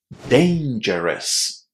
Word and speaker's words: dangerous: First of all, remember that the A in the first syllable here is pronounced well as a just as the first letter in the English alphabet. Dane. Dane. And then the ending O U S. Again, very similar to the letter S in the English alphabet. It's a little bit shorter, but really a tiny bit shorter. Us. Dangerous. Dangerous.